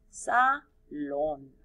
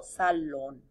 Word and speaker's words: salón: Salón. Acento en la O. Salón.